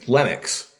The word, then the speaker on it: Lenax: Jay from the band uh how do you pronounce the name it's Linux oh okay it's Linux okay this one again right so and describe